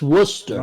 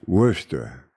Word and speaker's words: Worcester: Worcester. Worcester. CC, Worcester. just ride the wave. Worcester. Just ride the wave. Worcester. Just ride it. It's Worcester. Right, mate. It's Worcester.